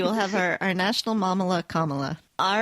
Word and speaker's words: Kamala: If you ever forget how to say it, just remember the Kamala. word comma. Like Mamala. Yes, like Mamala. We will have our national Mamala Kamala.